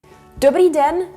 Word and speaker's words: dobrý den: Dobrý den means good day. The way to pronounce it is dobrý den.